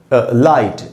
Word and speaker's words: light: जैसे यहाँ पर है दोस्तों लाइट, LIGHT, तो I एक वावल है, उसके बाद GH है तो वो साइलेंट हो गया, लाइट।